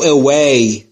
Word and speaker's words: away: Go away. Go away. تلفظ W رو دوستان توجه بفرمایید. اوی نمیگم. نیش دندونهای بالا لب پایین رو نمیگزه. این تلفظ ویه. در تلفظ دبلیو لبهاتون باید تقریبا حالت بوسه باشه.